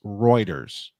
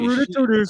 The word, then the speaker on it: Reuters: It's pronounced Reuters. Yeah. ters. Not rud ters like you like to say.